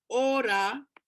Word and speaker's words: ora: Ora, which is hour, and we don't write it with an H, ora, as we pronounce, because if we put an H, then it would be hora, and hora is a dance, okay?